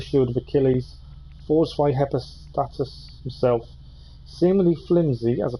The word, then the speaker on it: Hephaestus: Hephaestus is the pronunciation.